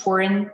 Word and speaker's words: foreign: right from the beginning the g is silent in foreign okay okay let me read it the northern king built the force for a dress to resist foreign invasion very good that